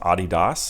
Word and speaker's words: Adidas: So it's actually pronounced Adidas. I think it's German or something like that. And Adi and then Das, I guess, were maybe the 2 kids' names.